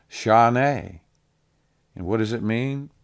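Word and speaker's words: שָׁנָה: It's Strong's number 8141, and it's pronounced shaneh.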